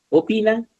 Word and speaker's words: opinan: Opinan, si os dais cuenta, también la sílaba tónica es pi, ¿no?